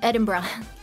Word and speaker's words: Edinburgh: one is it's Eden Edinburough no it's it's Edinburgh because we don't spell things right your favorite way to say it no it's it's it's it's literally edin Ed Edinburgh edinb edinb BR I'm I'm not [ __